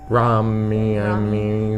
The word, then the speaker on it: Rami: Rami.